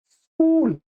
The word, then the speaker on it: स्कूल: तो यहां पर इ जोड़ देते हैं। कहीं पर अ जोड़ देते हैं। इसका सही उच्चारण है स्कूल।